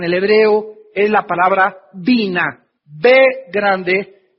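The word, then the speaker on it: בינה: La palabra inteligencia en el hebreo es la palabra vina. Bande y n a h. Vina. Otras veces simplemente se pronuncia en el hebreo vin.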